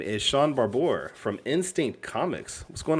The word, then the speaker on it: Barbour: No, he's saying it right. It's Barbour. Okay. Yeah. No. I'm like the only person in the world that says it right. But I'm used to Barber, Shaun the Barbarian, whatever.